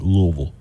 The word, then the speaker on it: Louisville: to be Washington Louisville I'm trying to say it like people from Kentucky say it Louisville you just really have to like just Lille Lille that's how you do it um we've got today